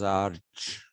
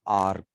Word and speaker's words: arch: depicted power and authority the greeks did not pronounce this as arch they pronounce this as ark in greek it is